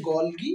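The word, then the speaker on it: Golgi: তো বিজ্ঞানী গলগি, এই গলগি জিনিস, গলগি বডি আবিষ্কার, এটার নাম বলছে গলগি বডি বা গলগি বস্তু। অনেকে গলজি বলে, গলগি বলে, এটা আপনাদের উপর ডিপেন্ড করে।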